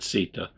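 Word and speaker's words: citta: So he goes on to say, Sita, that's probably actually pronounced Chitta, but I'm pronouncing it Sita, which is C-I-T-T-A, comes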